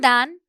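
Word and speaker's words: than: We have देन एंड दैन, दोनों की pronunciation पर भी ध्यान दे, दिस इज देन, बिकॉज बहुत सारे लोग दोनों को एक ही जैसा प्रोनाउंस करते हैं, और ये है दैन।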